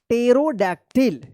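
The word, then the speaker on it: pterodactyl: टेरोडैक्टिल, ठीक है। तो इस तरह से आप पी साइलेंट वाले वर्ड्स को पढ़िएगा।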